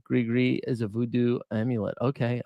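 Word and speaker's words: gris-gris: I think if anybody thought uh Oh, it's Grigree. Gri, don't pronounce the S in Grigree. Grigree is a voodoo amulet.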